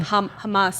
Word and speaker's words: Hamas: Hamas.